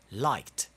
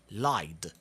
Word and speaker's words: liked: It's a lot easier to pronounce it as a T. For example, liked. Now, if you try to pronounce it as a D, you will find it a little bit more difficult. Lied. It's like your mouth is struggling to pronounce it properly.